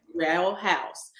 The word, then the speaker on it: Sherrell: So Sherrell, is that how you pronounce it correct? Correct. Sherrell House.